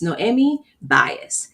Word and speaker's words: Noemi Baez: But I'm going to go really slowly to make sure I pronounce her name properly. So it's Noemi Baez.